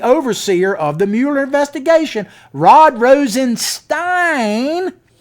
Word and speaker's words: Rosenstein: Rod Rosenstein. Like Frankenstein. Like Frankenstein.